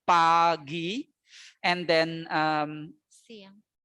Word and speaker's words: siang: And then Siang. afternoon, we say siang. Only 2 syllable as well, siang.